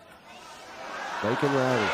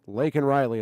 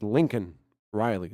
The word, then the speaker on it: Laken Riley: And he's holding up a button that says Laken Riley on it. Like he could potentially read it. I believe the font is big enough. And he cannot pronounce that. He says Lincoln Riley.